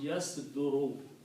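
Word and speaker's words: يَصْدُرُ: in this particular case, middle letter will have a dhamma instead of a fatha. So it will be pronounced yas duru.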